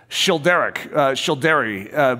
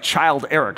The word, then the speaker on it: Childeric: It looks like Child Eric, so I was feeling sort of honored. It's like, oh, you know what? This is special. But Childeric, I think, is how it's pronounced. But those of you that speak French are like, excuse me, that was really off.